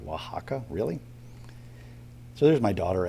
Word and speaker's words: Oaxaca: Oaxaca, Oaxaca, really?